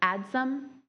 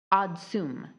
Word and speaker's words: adsum: Adsum is the primary pronunciation. Oddsum is the other one.